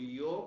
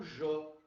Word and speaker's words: yo: Só que ele pode ser aqui, por exemplo, eu posso falar tanto yo como jo. E aqui tanto ayer como ayer. Tá, mas então qual é a diferença disso aqui? A diferença está em que a pronúncia do J, ela acontece no Uruguai e na Argentina, sobretudo. É característico dessa região, do Rio de la Plata.